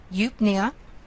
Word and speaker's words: eupnea: So again, EU is one of those vowel combinations from chapter 1 where we say the second vowel. In this case, it's going to be a long U sound. So U, good, normal, well, easily. So eupnea, or eupnea, that's a good thing.